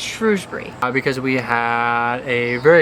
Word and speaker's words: Shrewsbury: hour drive up to Shrewsbury Shrewsbury I think we keep mispronouncing but it's Shrewsbury because we had a